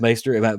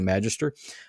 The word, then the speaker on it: Maester: I think that's pron I pronounced that one right I looked it up yeah it's maester I know my my brain immediately wants to say Magister um because that's the way the American English works and it's not the